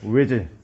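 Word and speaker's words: Özil: 이 O 위에 찍혀 있는 거 뭔 줄 알아? O를 뭐로 발음하는 거냐? 전설모음으로 발음하는 뜻이야. 그래서 축구 선수 누구야? 외질. 그치? 외질 이렇게 읽어야 되는 거고, 또 누구 있냐?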